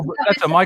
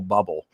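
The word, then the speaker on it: Bublé: so oh one Michael Buble was being played on there and he went on the air and he didn't know how to say it and he kept calling him Michael bubble and these are all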